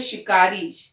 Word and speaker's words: शिकारी: फिर है शिकारी, शिकारी में शा का प्रयोग है, उच्चारण शा होगा, सा नहीं, ध्यान से करेंगे हम।